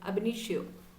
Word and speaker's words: ab initio: been in a benito once again abhinitio avenue that is say actually with this word it's like um there is no gap okay you have to treat together but we have to